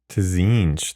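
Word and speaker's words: Tzeentch: Pronouncing his name is a cinch. Right. Yeah. It's just like cinch. Mm-hmm. Cinch. Tzinch, though.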